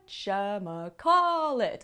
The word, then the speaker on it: whatchamacallit: Put the stress on the first syllable, whatchamacallit, and the second to last syllable.